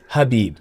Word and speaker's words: Khabib: And I'm like, Khabib, it's Habib. You know, the K is silent.